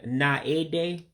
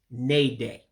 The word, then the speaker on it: na-ede: And then again, you don't pronounce the A after the N. So basically that's that middle word. Instead of saying na-ede, all you're saying is na-de, because you're eliminating that A out of there.